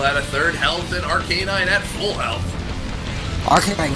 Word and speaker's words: Arcanine: it arcanine i parken I arcanine like with the number yeah exactly number nine number nine on